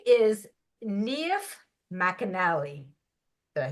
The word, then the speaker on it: Niamh McAnally: very very special guest today her name is neif Mell did I say that right excellent very good pronunciation well I was they sent me secret